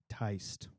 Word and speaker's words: Tiste: We should do it's Teist and D. Yes. You will see that, and you will know it when you see it. Teist. Is that a character? It's a race of people. Tiste. Teist.